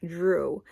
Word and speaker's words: Jrue: It's spelled J-R-U-E. The only thing I didn't like about that name was it being 1 syllable.